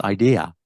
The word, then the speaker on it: idea: Because no, it's pronounced idea wherever you go.